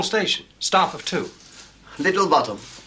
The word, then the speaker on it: Botham: sir but it's spelled both them and it's pronounced bottom I've just told him that and all thank